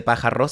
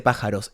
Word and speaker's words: pájaros: Y también, pájaros, no se dice pájaros, se dice pájaros. Es muy difícil el r, muy complicado.